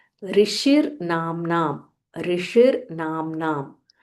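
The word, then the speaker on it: ऋषिर्: सो लेट अस सी the pronunciation. ऋषिर नाम ऋषिर नाम।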